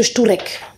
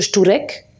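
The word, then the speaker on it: Szczurek: Mais parmi les 29, l'un d'entre eux, qui est mon préféré, s'appelle Monsieur Šturek. Monsieur Šturek, ça s'écrit S-Z-C-Z-U-R-E-K.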